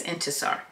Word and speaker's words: Intisar: ask me what my name was how to pronounce it she wanted to be clear and introduced me to every single person as into sir it was the first time I had heard